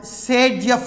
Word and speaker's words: Zaitsev: by a rule called Sagejeff rule or Zaitsev rule. Actually the name is Zaitsev, but it is pronounced as Sagejeff.